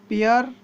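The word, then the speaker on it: pear: पपीता, पपाया, अमरूद, गुआवा, आम, मैंगो, संतरा, ऑरेंज, अंगूर, ग्रेप्स, नाशपाती, पियर। दोस्तों हाँ, यहाँ पर भी आर पर स्ट्रेस नहीं देना है, पियर, इस तरीके से बोलेंगे इसे, पियर।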